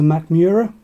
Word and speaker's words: Mackmyra: first world whiskey so this is a macmura that is how that is pronounced because we've had magnera